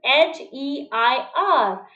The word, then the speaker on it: heir: Again, if we look at the spelling of heir, then this is H-E-I-R. But H remains silent and we pronounce it as heir.